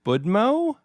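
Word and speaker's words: Будьмо: uh the book is called how do you pronounce it is it budmo yes perfect budmo yes nice which roughly translates to Cheers is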